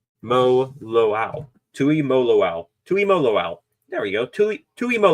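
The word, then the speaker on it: Tuimoloau: Tui Mo Loau. There we go. Tui Mo Loau. There you go. Gotta phonetically go through that there.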